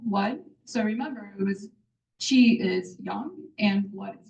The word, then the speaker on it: qi: So qi is qi, which is pronounced as qi.